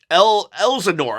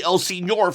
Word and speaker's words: Elsenor: Elsenor, I used to call Oh, wow. Elzenor. I used to call you Elzenor, but you're actually Elsenor. I I was pronouncing your name wrong.